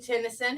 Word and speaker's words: Tennyson: Good morning, Tennyson.